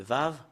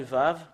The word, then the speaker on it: ו: Le Vav, voilà.